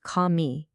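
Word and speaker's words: քամի: The word for wind is kami. That's pronounced kami.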